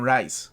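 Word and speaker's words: Reis: ivan reyes reyes right you guys always teach me how to pronounce his name ivan rice rice that's it rice jesus sais i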